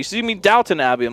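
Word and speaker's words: Downton Abbey: I'm like, you know, that PBS show, Downtown Abbey. So you mean Dalton Abbey?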